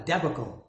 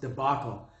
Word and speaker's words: debacle: Little Carmine from The Sopranos, he would call it a debacle, but I think it's pronounced debacle.